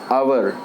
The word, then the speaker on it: hour: is a consonant but in this noun h is silent so we pronounce it as our hour so ah the word